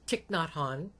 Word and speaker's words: Thich Nhat Hanh: I cannot pronounce his name right. Thich Nhat Hanh. Thich Nhat Hanh.